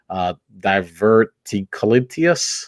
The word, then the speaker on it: diverticulitis: I know several years ago you were diagnosed with a rare medical disease, diverticulitis.